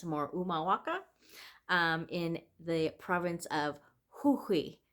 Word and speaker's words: Humahuaca: right, um, Quebrada de Humahuaca or Umahuaca. Again, the Spanish don't really pronounce H, so I'm thinking it's more Umahuaca, in the province of